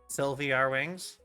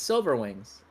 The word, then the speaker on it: SilVRwingZ: supposed to say it everybody keeps calling me sylvar wings and I'm like that's not how you say it though silver rings yeah it's Silver Wings a lot of people